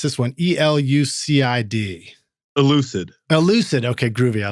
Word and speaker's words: ELUCID: I don't know how do you pronounce this one? ELUCID. ELUCID.